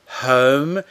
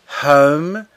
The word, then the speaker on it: home: this is how you say it here, the pronunciation, home, bisogna espirare con l'H, cioè home, it can be anywhere.